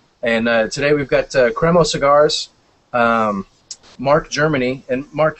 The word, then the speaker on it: Cremo: It's Cremo, correct? Cremo.